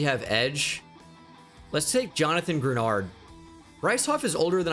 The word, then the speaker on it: Grenard: I always want to say Greenard when I see his name, but it's Jonathan Grenard.